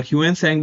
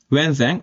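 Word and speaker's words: Hsuan Tsang: और ह्वेन सैंग भी कहते हैं इनको, टी साइलेंट होता है, ठीक है, इसलिए मैं सैंग बोल रहा हूँ, टी नहीं बोल रहा। ह्वेन सैंग और जुआन सैंग कुछ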